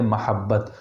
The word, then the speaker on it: محبت: ایسے ہی جانے دیں، لیکن صحیح تلفظ ہے محبت۔ السلام علیکم ورحمۃ اللہ